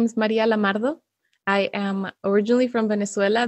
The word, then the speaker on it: Maria Lamardo: it comes from sure so my name is maria lamardo i am originally from venezuela though i do